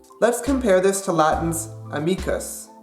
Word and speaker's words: amicus: Let's compare this to Latin's amicus. As you can tell, stress on the Latin word is on the second syllable, me.